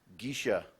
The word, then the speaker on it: geisha: Geisha, also pronounced geisha.